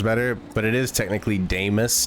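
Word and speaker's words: Damas: somebody was correcting me cuz I call him damos I think it sounds better but it is technically damus d m a and somebody was like you're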